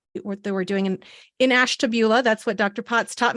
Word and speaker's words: Ashtabula: talked about in what they were doing in Ashtabula that's what Dr Potts taught me how to